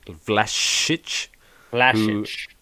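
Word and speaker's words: Vlašić: legit um and then nicola vlasic as we learned to pronounce flash flash i'm going to make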